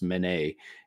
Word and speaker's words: Mene: It's pronounced Mene, and I think it's off of it's kind of like derived from an old language way of saying money, which actually translated to silver, if I'm not mistaken.